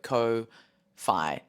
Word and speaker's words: Ko-fi: So it's ko-fi, so kind of like hi-fi, but ko-fi. But Ko-fi is how they pronounce it.